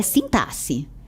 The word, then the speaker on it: sintaxe: Sintase. Veja, a pronúncia é sintasse.